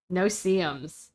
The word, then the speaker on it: no-see-ums: No, It's no dash C dash No seums. no CMs. It's not no seums, it's no seums. You don't see them.